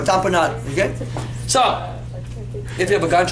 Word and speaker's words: tamponade: spell it cardiac heart tamponade or tamponade Dom da M PS it papa oh and a de like Gatorade name company or tamponade okay so if you